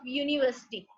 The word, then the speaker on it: university: First of all, they are taking the example of university. University. With the university, its sound is yu.